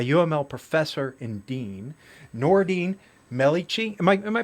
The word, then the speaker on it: Melikechi: a writer, a UML professor and dean, Noureddine Melikechi. Am I pronouncing the last name? Melikechi, last name? Yeah, Melikechi, yes.